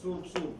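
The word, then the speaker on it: սուրբ: таким образом, что, значит, как говорят, как произносят армяне, сорпи, сорпи, то есть сурп-сурп.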